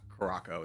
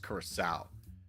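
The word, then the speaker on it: Curaçao: It's not Caraco, it's Curacao.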